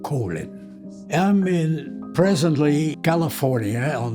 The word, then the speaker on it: Colyn: In Dutch, you say Colyn. I Americanized the pronunciation in Colyn.